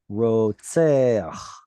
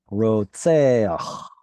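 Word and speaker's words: רוצח: So ro, and then seach, and there's that pesky furtive patach again. Rotseach. It's not really part of the structure of the word. It's inserted because of pronunciation reasons. Rotseach. Rotseach.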